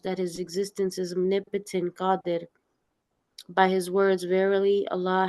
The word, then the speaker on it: Qadir: In the Quran, it says it's Qadir. Okay. وَعَلَى كُلِّ شَيْءٍ قَدِيرٌ. Yeah. It's spelled Qaadir on here.